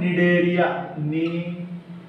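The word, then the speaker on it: Cnidaria: फिर आएगा tissue level, tissue में आएगा सिलेंट्रेटा, याद रखना सिलेंट्रेटा का एक और नाम है, उसको बोलते हैं निडेरिया, निडेरिया, ठीक है, सी साइलेंट होता है।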